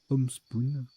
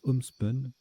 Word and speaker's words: homespun: Homespoon, pardon, ça se prononce Homespun.